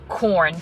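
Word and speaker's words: Quorn: you don't eat meat there's this brand called corn spelt with a q u-o-r-n and it is basically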